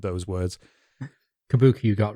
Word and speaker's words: kabuki: theater also appears during this period i probably butchered those words kabuki you got right yeah i've never been sure